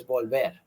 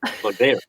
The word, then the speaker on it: Volver: But if you do find it and see it, remember that the pronunciation is Volver. Volver.